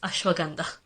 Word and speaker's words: ashwagandha: corrected, ashwagandha and Himalayas, it's Himalayas, and it's ashwagandha.